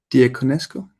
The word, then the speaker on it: Diaconescu: But also Andrea, Peter, how do you pronounce the second name in Toronto? Andrea Diaconescu?